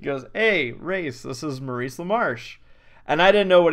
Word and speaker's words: Maurice LaMarche: Maurice LaMarche?